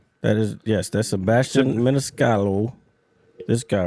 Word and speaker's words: Maniscalco: No, there's a C at the end. It's Maniscalco. Yeah, that's what it- Maniscalco.